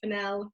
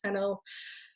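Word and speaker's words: Fennell: four essentials and yes it is emerald fennel rather than emerald channel ah i get like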